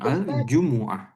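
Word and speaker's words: الجمعة: He aljumuah. Aljumuah. Aljumah. Mimnya enggak sukun dia. Mu aljumuah. Aljumuah. Aljumuah. Aljumuah. Ah. Dan tidak panjang.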